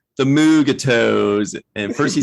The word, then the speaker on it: Mugato: pronounce it i remember i myself called them like mugatu's you know and i would have to sound it out and say no mugato yeah it's not not